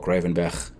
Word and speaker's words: Gravenberch: So, and then you have Ryan Gravenberch or Gravenberch, if you want to give it a more of a Dutch pronunciation, from Ajax.